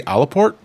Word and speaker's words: Aleport: I believe it's pronounced Aleport. Okay, I believe you. But the reason why I say Alaport is because it's one fucking word. So if they wanted me to call it Aleport, you put a fucking